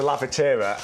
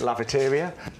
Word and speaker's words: Lavatera: Although we sell something called the Lavatera, and I've always called it Lavateria.